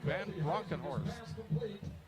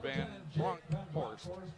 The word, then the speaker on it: Van Bronkhorst: That's Jake Van Bronkenhorst. Or Van Bronkhorst. I threw an extra syllable in there.